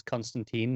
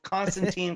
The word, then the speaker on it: Constantine: me then also confirms that tom taylor says constantine not constantine because that is obviously a running